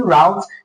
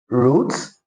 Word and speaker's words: route: So if you're pronouncing route, you're correct.